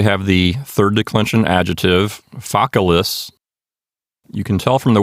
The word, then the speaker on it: facilis: It's not facilis. We don't have the accent on the second syllable. We have it on the first syllable because that second syllable has a short vowel, so it's Focalis.